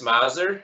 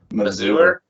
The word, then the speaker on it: Mazur: Yeah, not really sure why, but you know, if everyone's ever seen like a Mazda car, I mean, that's how you pronounce the first three letters is with a short A like that.